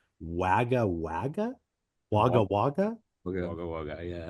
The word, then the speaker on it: Wagga Wagga: Obviously the band started in, I apologize if I'm pronouncing this wrong. Wagga Wagga?